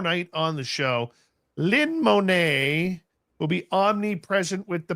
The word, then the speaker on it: Monet: It's dirt, son. Don't try to church it up. It's Monae. Even Americans say Monae. No, you don't. I do not say Monette.